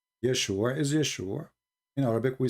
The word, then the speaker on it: Yeshua: Yeshua is Yeshua. In Arabic, we say Yeshua. So we should say it in the correct way.